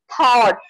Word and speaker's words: thought: And go in the thought. So GH is a sound of the ka that is not present in thought.